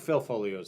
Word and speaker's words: Foglio: I I like uh I like Phil Folio's stuff. I I I always have to remind myself don't pronounce the G.